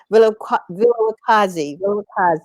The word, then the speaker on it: Vilakazi: No worries, Wivelakazi. That's why we just call her here, but Vilakazi, that's it.